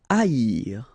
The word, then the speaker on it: haïr: Haïr. Okay, so keep in mind that here you will pronounce it like I, haïr. First H is not pronounced, okay, so haïr.